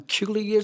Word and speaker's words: Qeulius: Yeah, I'm Qeulius. The first name rhymes with Julius, but it's Qeulius with a Q.